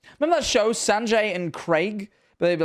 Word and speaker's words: Craig: Americans need to stop naming people Craig until they learn to say it properly. Craig. Craig. Craig. It's spelled Craig. Craig. Craig. That's Craig. Fuck off! Oh, it makes me so angry. Fucking Craig. Like it's an egg.